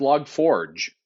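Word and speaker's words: Log4j: Also, today I learned it's pronounced log forge. Oh, that's a fancy French way to pronounce it, I'm pretty sure.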